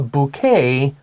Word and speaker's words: bouquet: But the reason it's not bouquet, okay, this word originally came from French. Yes, so it's a bouquet for Mother's Day, not a bouquet, okay?